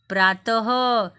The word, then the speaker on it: प्रातः: यहाँ पे देखा ना आपने, 2 बिंदु है और जब हम उच्चारण करते हैं तब क्या आवाज आती है लास्ट में? कौन सी ध्वनि? ह।